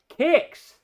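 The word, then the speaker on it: Quix: And with the Coco Show, we'll be playing Kicks. Now, on the Coco, it's spelled Q-U-I-X.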